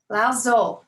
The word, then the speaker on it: Lao Tzu: Lao Tzu is how you say his name, and it's spelled Laotzu.